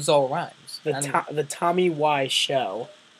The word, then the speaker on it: Wiseau: the Tommy why show not why as in why why would you do that to me liser why is in why why is up okay Tommy why show because show rhymes with zo and my name it's